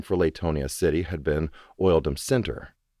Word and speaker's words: Latonia: The fact that locals pronounced Latonia with a long A sound, as in lay, was a linguistic remnant of this fact. You could always tell you were dealing with an out-of-towner when they pronounced the city's name with a short A, as in lateral.